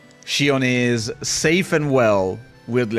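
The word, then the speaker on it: Xion: It's not Shon. It's not Shon. Shion is safe and well, weirdly enough.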